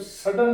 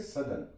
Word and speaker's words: sudden: SUDDEN, इसे हम सडन नहीं पढ़ेंगे, इसे पढ़ेंगे सदन, सदन। डबल डी जहां पे भी लिखा होगा उसकी डी की आवाज सॉफ्ट हो जाएगी, सदन।